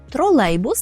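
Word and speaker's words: trolejbus: ми наголошуємо трам трамвай тролейбус так і буде тролейбус тролейбус при вимові звертаємо увагу на ле так л польський звук який є завжди м'який тому ми не скажемо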